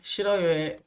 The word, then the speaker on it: 싫어요: 자, 마찬가지로 싫어요, 좋아요 역시 그냥 싫어요의 리을이 올라가고 좋아요의 히은 가만히 이응처럼 발음돼서 싫어요, 좋아요 이렇게 읽어 주시면 되겠습니다.